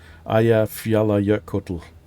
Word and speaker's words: Eyjafjallajökull: The Kull, which is actually pronounced Kuddl. Eyjafjallajökull.